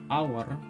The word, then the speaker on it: hour: kita tetap menambahkan pentana cara bacanya itu hour hanya enggak dibaca tapi langsung ke jadi